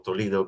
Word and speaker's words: Toledo: Que haya un Toledo o Tolido, como lo pronuncien ahí en en Ojayo, ¿no?